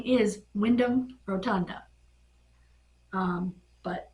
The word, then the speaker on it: Wyndham: and Bo Dallas um friend Wyatt's name is Wyndham Rotunda um but it's spelled w-y and d h a m instead